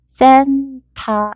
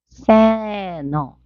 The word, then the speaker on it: Santa: 그다음 우리 산타클로스라고 이렇게 발음하는데요 발음도 사실 산타라고 하지 않습니다. 보시면은 여기 NT가 모음과 모음 사이 있죠. 그러니까 요렇게 닿는다고 생각하시면 돼요. 위치가 비슷해서. 그래서 발음교를 보시면은 센타 이게 아니고 세너 이렇게 되겠어요.